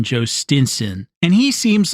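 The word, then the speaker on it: Jhostynxon: His name, if you have not seen it, is spelled J H O S T Y N X O N Joe Stinson.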